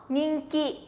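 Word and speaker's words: 人気: Từ này sẽ đọc là nhìn ki nè. Nhìn ki, minasan sẽ nó. Ninki, ninki, rất là tốt.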